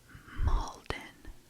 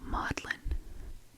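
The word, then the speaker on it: maudlin: Molden. No. Modlin. Modlin.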